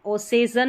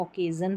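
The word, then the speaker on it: occasion: kilt kilt क क्यू यू को क यहां पर किल्ड फिर है डबल सी डबल सी को भी क प्रोनाउंस कर रहे हैं ऑकेजन में ओसेजन नहीं पढ़ते इसको ऑकेजन पढ़ रहे हैं तो इस तरीके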